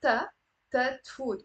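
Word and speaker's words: תפוت: So we drop the b. Let food. Or the same with tat food.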